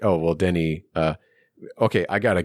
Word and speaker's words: Denis: I know it's pronounced Denny it's it looks like Dennis it's pronounced Denny for people that are